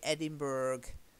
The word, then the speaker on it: Edinburgh: okay Marlboro Edinburgh okay of course Americans do say borough but if you're in the UK it's best to ask for the train to Edinburgh okay buzz are you